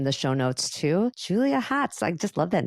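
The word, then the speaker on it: Hotz: social media in the show Notes too Julia Hots I just love that name so much I'm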